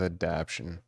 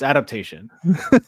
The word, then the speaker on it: Adaptation: I think I'm going to go with Adaption. Did I say Adaption? Sorry. It's Adaptation.